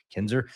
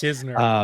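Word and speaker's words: Knizner: of months, you have Andrew Kinzer. I'm gonna get it. I'm gonna get it. I promise. Kisner, Kisner. Kisner. I got to say it like a million times.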